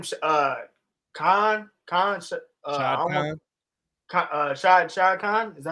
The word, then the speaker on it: Shad Khan: Shad Khan.